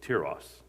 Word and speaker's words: Tiras: That's how you say it, Tiras, according to the guy on my phone that reads the Bible.